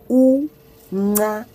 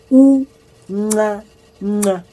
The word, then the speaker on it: uncanca: Pronounced uncanca, uncanca.